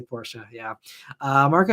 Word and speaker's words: Porsche: and yeah um anyway Bruce says you always pronounce uh Porsche Porsche I do um because that's the correct correct